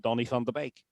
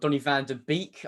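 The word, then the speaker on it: Donny van de Beek: And uh the de is probably intuitive to most people but the E sound is an A sound rather than an E sound.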